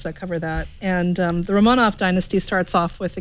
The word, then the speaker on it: Romanov: So, is it Romanov or Romanov? It was a British person who was doing the I think Romanov is the way I was taught it. But they it pronounced could it just be Romanov the whole time, and I was like,